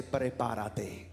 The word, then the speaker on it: prepárate: Look at your neighbor, roll your R's and say, prepárate. Not preparate, say preparate.